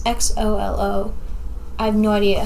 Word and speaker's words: Xolo: Sholo. His name in the movie is Miguel, or the show. I don't know how to say his name. It's Xolo.